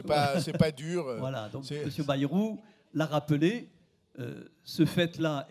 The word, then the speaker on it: Bayrou: monsieur bayrou et donc c'est comme ça qu'on prononce c'est facile d'aller vous comme bayonne s'est passé pas dure voilà monsieur bayrou l'a rappelé ce fait